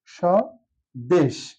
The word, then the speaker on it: স্বদেশ: আসি স্বদেশ শব্দটি নিয়ে স দেশ এখানে লক্ষণীয় বিষয় স্বদেশ শব্দটির প্রথম যে বর্ণটা আছে সর্টার সাথে আছে ব ফলা কোথাও উচ্চারণ নেই ব এর এখানে হচ্ছে অনুচ্চারিত আর এই স উচ্চারণ